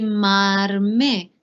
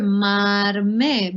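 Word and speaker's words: མར་མེ: So if we want to say butter lamp, it's going to be marme. Now, because the me is there, some speakers will actually pronounce the ra, and you will hear marme. But other speakers might just want to say mame.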